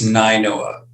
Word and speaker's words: Nainoa: Am I pronouncing that right? It's Ninoa. Ninoa, huh?